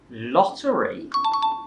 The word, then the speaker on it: lottery: R จะออกยากหน่อยเนาะมันเหมือนกับมันมวนลิ้นอยู่ข้างในอะไรแบบเนี้ย R อะไรอย่างนี้ก็ต้องใช้เวลาในการฝึกก็ฝึกดูนะคะโอเคไปถึงคำที่4นะคะคือคำว่า Lottery. Thais will pronounce as lottery exactly. Again, they will turn the R into an L, but this time it is at the end of the word. So it doesn't matter where the R is in the word, Thais will constantly pronounce the R sound as an L.